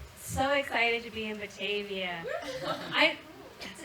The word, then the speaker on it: Batavia: and I was like, Batavia is so nice. You're gonna love her. She's a sweetheart. She gives you kisses on both cheeks. Very continental dog. And someone was like, it's pronounced Batavia.